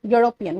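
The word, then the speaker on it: European: लगाते हैं dash यूरोपियन है ना यूरोपियन वा की साउंड आ रही है ई हम ई को थोड़ी ना कंसीडर करें यूरोपियन थोड़ा ना बोलते हम यूरोपियन बोलते हैं तो इसीलिए क्या बोलेंगे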